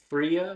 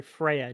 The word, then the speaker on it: Freyja: figure such as yourselves, Lady Fria, was it? Sorry, Freya. Didn't you just say my name? Maybe she did. Um, but yes. Yes. Yes. Yes. Freya. That's correct.